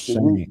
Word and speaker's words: Shem: Yep, that's gonna be for the word at the Shem. bottom of the screen. Shem, pronounced shame. That's the Shame. root of the word. They telling you this word is pronounced shame.